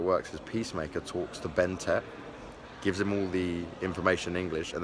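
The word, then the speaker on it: BnTeT: I've got to keep remembering Tet right, because it's said B-N-T-E-T, but it's Ben Tet is how it's said.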